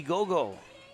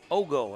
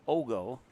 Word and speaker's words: Ogle: Brady Gogle. Ogle, excuse me. O X G O is how you'd phonetically spell it. Ogle.